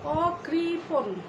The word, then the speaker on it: অকৃপণ: কিন্তু এই অটি যদি নেতিবাচক অর্থে এখানে বসে থাকে, নেতিবাচক অর্থ প্রকাশ করে, তাহলে সেই অয়ের উচ্চারণ স্বাভাবিক অয়ের মতোই থাকবে, অর্থাৎ যাকে আমরা বিবৃত উচ্চারণ বলি। যেমন অকৃপণ, এখানে অয়ের পরে কয়